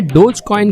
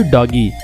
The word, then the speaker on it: Dogecoin: तो दोस्तों पहले तो मैं आपको बता दूं कि इसे डोज कॉइन प्रोनाउंस किया जाता है, ना कि डोजी या फिर डॉगी।